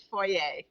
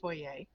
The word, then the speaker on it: foyer: placed it in the foyer. And foyer, to those of you that would prefer I say it that way, but foyer. Foyer is the French pronunciation.